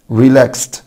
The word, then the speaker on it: relaxed: طبعا قلنا اي فعل بينتهي بالسه ساوند يبقى الاي دي بعده هتنطق ت. relaxed. organize organize organized organized يعني ينظم.